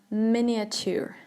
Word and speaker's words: miniature: right very good uh miniature miniature not miniature not Mania twos or something else miniature okay um yeah um